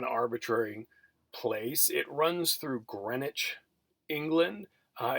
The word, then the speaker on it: Greenwich: place it runs through greenwich england uh it's it's spelled like a green witch but it's pronounced greenwich because you know the